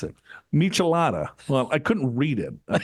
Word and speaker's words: michelada: in 64 drink of choice is a maalala melada melada melada is what it's called a melada I wouldn't even know how to pronounce that yeah that's like tomato juice and